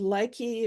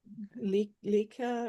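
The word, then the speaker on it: Lykke: These are called Likey or Lika, or I think Likey is actually not correctly pronounced, but that's what everybody seems to say.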